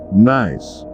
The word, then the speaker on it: gneiss: A craton is part of Earth's crust which has been stable for nearly 1 billion years or so, and gneiss pronounced gneiss, which is typically a hard, gray rock with long, white or gray ribbon-like bands.